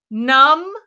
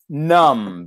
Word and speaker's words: numb: I'm gonna give you numb because I love that word it means a great word absence of feeling guys not only physically but also emotionally and that B is silent nu MB it's a